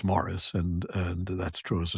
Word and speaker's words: Maurice: The British still pronounce the name that we pronounce in the French form, Maurice, correctly as Morris, and that's true as a surname as well as a Christian name.